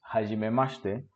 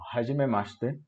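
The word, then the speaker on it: はじめまして: 41歳です。本ジュラス人です。建築家です。そして、日本語の先生です。どうぞよろしくお願いします。Bien, aquí puntos a destacar en la pronunciación son los sonidos como shi, por ejemplo, en hajimemashite. Notemos que suena la i muda. Básicamente hacemos un ch, como cuando pedimos silencio en español. ¿Ok? Y ese sonido SH no existe en español. ¿Ok? Por lo tanto, no estamos acostumbrados a ello y tendemos a pronunciarlo fuerte, como si fuera CH, como chi, por ejemplo, pero ese debe sonar suave.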